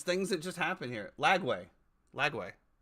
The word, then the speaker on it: Lagway: you always the the the names that you pronounce sometimes are not yeah yeah you call him Langley or whatever I okay how do you how